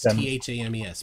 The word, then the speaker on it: Thames: Thames. Pronounced Thames.